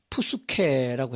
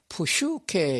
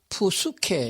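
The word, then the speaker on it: ψυχή: 혼은 영어로 soul이라는 단어 썼고 그리스 말 헬라 말로다가는 푸스케라고 했습니다. 영어 단어를 비슷하게 한 발음할 적은 푸슈케 이렇게 말하는데 헬라 말 그대로 직역하게 되면 푸스케 이렇게 발음하는 게 맞습니다.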